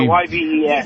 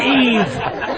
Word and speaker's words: Yves: Yeah, YVES. YVE. Your name is Yves. It's not Eve. Funny. That was Jacques Cousteau's middle name, right? Was it? Yeah, exactly. Hey, what are you doing New Year's? Yves.